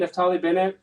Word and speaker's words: Naftali Bennett: Is that how you say it, Naftali Bennett?